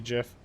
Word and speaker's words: GIF: for the soft G GIF, in English language, it's traditional when G is followed by an I or an E, that it's a soft G.